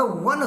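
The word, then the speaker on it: one: अब देखिए ओ एन ई वन में ओ शब्द पहले है, ये बात सही है कि ये वावेल है, लेकिन बच्चों इसका उच्चारण वन से हो रहा वाह, और वाह आपका क्या है, वाह आपका व्यंजन है, इसलिए यहाँ पर ए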